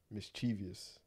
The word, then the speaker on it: mischievous: But mischievous, we just added a sound though.